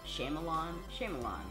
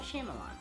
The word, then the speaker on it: Shyamalan: I also know that I say his name wrong. Shyamalan. M. Night Shyamalan.